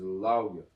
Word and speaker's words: Levi: So sometimes, like in the name Levi, I'm gonna put this on the board real quick. The name Levi. So the way it gets pronounced is Lauya.